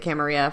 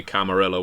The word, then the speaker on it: Camarilla: See, where whereas I pronounced it Camaria for many years until my vampire players told me I was saying it wrong.